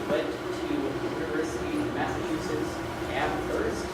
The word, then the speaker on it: Amherst: Then she went to University of Massachusetts Amherst, no H, pronounced H, because H is the word, where she did her